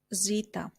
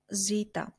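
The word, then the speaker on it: ζήτα: but only for singular Zita Zita which we pronounce as the like in the word Zoe Ita which we pronounce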